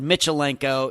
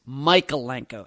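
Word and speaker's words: Michalenko: I think we said Mitchell Leno. It's Micheno.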